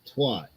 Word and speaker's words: twat: And they say twit, not twat. Twat. Rhymes with cat and hat.